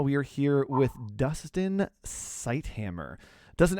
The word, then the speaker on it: Ceithamer: We get Syd Hammer, Syd Hammer. There's a TH in there that when you pronounce it, it is separate. But when it's all together, it looks like there'd be a, but there's no in there. It's just a.